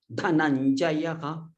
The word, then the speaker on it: धनञ्जयः: This stress has to be made here. Dhananjayah. So, and Dadmau. So we have to stress only on this dha, not the nearby letters.